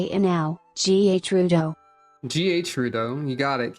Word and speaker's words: Gerudo: Somebody tell me if there's a canon pronunciation of that word while I do this. Oh, it's Gerudo?